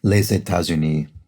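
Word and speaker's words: les États-Unis: the which is uh the s of which is silent unless it's followed by a vowel as in this case laissez tazuni so that would be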